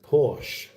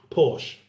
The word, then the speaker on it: Porsche: Porsche, that's how we've always pronounced it here. But then Porsche, that's how they say it there. We should say it the same. But we speak a different language.